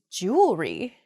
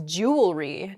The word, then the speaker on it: jewelry: say that word mispronunciation where the word kind of gets a little bit smushed together uh and we say jewelry instead we miss that that second e sound in there it should be jew ellery uh in